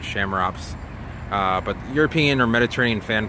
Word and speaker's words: Chamaerops: In Latin, it would be Chamaerops. Most people pronounce it Chamaerops.